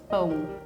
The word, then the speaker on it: pão: The word pão in Portuguese is one of the hardest for foreigners to pronounce. Can you say it again? Pão. Boom. Pong. Pão. Bone. It's like. It's like back here, pão. Bone. Sounds like bone. But the sound is coming from here, like.